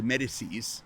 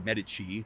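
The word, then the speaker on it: Médicis: in 1963 at Sank Ru de Medicises. It's a French pronunciation for Medichi.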